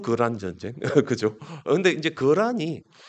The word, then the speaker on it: 거란: 전쟁 그죠 근데 이제 거란이 아 보통이 그 키탄이라 이제 중국의 발음으로 키탄이라 그러 키탄이 케세이 이래 되고 케세이 이제 중앙아시아에는